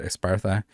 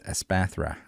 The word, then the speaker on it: Espathra: We're missing the Espathra. Man, I can never pronounce this. I always want to call it Espartha. It's Espathra.